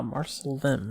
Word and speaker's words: Marsalim: Ah, Marsalim, not Lim. That's the English pronunciation.